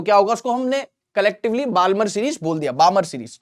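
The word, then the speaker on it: Balmer: बामर series बामर series तो L silent होता है बामर सीरीज लैंडिंग कहां हो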